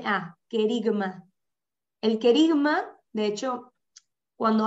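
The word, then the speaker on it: kerygma: que dijiste que se llamaba el kerigma esto se escribe con k e r y g m a kerigma el querigma de hecho cuando hablan de una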